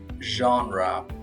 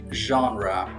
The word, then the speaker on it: genre: Today, we'll cover five useful words with their accurate pronunciation, synonyms, and practical examples. First, genre. genre genre What genre of music do you like?